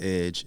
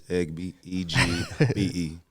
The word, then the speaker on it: EGBE: It's not Edge. It's EGBE.